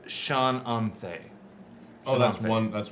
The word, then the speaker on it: Shananthe: And I would say that's Shananthe. Oh, that's one name. Yeah. C-H-A-N or S-H-A-n Shannon. A-N-T-H-E. This is With an really accent important. over the E. Gotcha. Sure. Shananthe.